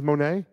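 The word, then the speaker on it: Moné: Mercedes Monet. Monet of Mercedes, okay. Well, it's really money. I just don't ever say it that way.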